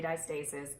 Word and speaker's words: diastasis: And first off, it can be pronounced in multiple ways, but I say diastasis. I'm from Atlanta. I don't know how other people say it, but that's how it is.